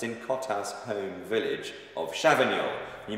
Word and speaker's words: Cotat: The most famous producer of Sancerre of all time, in my opinion, is Francois Cotat, which is spelled C-O-T-A-T.